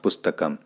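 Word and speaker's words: पुस्तकं: बिंदी लगी हुई है, तो उसका उच्चारण अनुस्वार शब्द का जो उच्चारण है वो म के रूप में होगा, क्योंकि ये शब्द के अंत में आ रहा है, तो इसलिए इसका उच्चारण होगा पुस्तकम।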